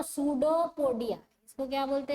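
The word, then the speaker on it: pseudopodia: P silent है तो सूडोपोडिया, इसको क्या बोलते हैं? सूडोपोडिया। हाँ, ये सूडोपोडिया मतलब पी साइलेंट है इसका स्पेलिंग में।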